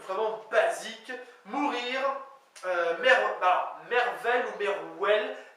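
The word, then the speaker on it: mervel: Mourir, merveille ou merwell, M-E-R-V-E-L ou M-E-R-W-E-L, donc merwell.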